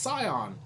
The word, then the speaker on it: scion: pretty good from sternocleidos scion is pronounced scion psy like die with an ass on thank you get out